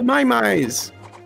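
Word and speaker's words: Maiamai: and then you can upgrade them with the mymys which i don't know how to pronounce it's m-a-i-a-m-a-i that's fine too many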